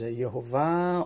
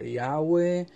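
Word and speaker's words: יהוה: They're going to be using, instead of the tetragrammaton, Yod, He, Vav, He, which many people will pronounce as Yehovah, or Yahweh, or so on, or even the Lord,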